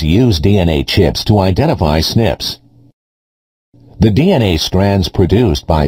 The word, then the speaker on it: SNP: This difference is a single nucleotide polymorphism, or SNP, which is pronounced SNP. Before a researcher can identify the SNPs, the DNA must be copied so that the researcher has enough DNA to work with.